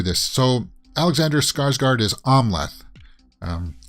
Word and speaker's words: Amleth: we'll walk through this so alexander skarsgard is omleth um it's i always pronounce it amleth but it's amla it's pronounced omleth and i think he goes by another name